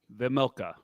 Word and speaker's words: Vejmelka: Vejmelka.